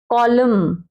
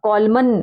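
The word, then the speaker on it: column: कॉलम, कॉलम, अब कॉलमन, कॉलमन नहीं बोलेंगे, कॉलम।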